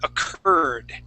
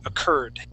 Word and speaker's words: occurred: occurred okay um so we're gonna put the aent at the uh in the middle of the word yeah just like that occurred occur okay there you go occurred and try and end that with a D sound occurred occurred there you